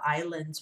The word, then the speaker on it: island: island we learned about islands when we studied our landforms sorry guys and that is a silent s it looks like is land is land but it's island okay so you're going